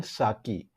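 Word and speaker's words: Psaki: white house press secretary जेन साकी, यहाँ P silent है गाइस, जेन साकी said the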